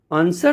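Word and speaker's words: answer: का प्रोनंसिएशन आता है तो एस डब्लू में जिसे एंसर तो डब्लू का कोई प्रोनंसिएशन नहीं आ रहा है आंसर जो है आंसर उसमें ए एन एस ई आर यह प्रोनंसिएशन आ रहा है डब्लू नहीं बोला जा रहा है सर्ड सर्ड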